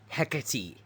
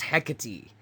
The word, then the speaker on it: Hecate: Hecky. Melanino. Yeah, it's Hecate.